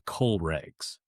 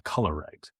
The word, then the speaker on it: COLREGs: of your license is what are called the coal rags. Um, sometimes you will hear people mispronounce it as the colors.